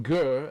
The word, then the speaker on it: Gur: His name is properly mispronounced Gur, as in the beginning syllable in Gerber, the baby food.